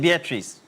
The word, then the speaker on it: Beatrice: Beatrice. She pronounces it Beatrice.